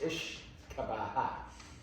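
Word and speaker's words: uisce beatha: The Gaelic translation of whiskey means water of life. It's pronounced Ishkabaha.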